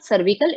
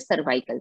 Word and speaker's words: cervical: इट्स नॉट सर्विकल, इट इज सर्वाइकल. Pronounce वैसे ही करेंगे.